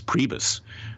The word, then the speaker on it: Priebus: It came apparently from Rece Priebus. Okay. Who whose name rhymes with Prius.